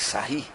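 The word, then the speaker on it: Sarrus: de pierre frederi que sair que ficou mais conhecida com uma regra de sair se escreve sarros mas como cidadão era da frança a gente tenta a ir chegar próximo da pronúncia francesa tá regra diz aí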